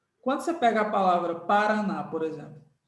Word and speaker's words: Paraná: você pega a palavra Paraná por exemplo Vamos separar as sílabas pa para na qual a sílaba forte de Paraná é a última essa aqui é o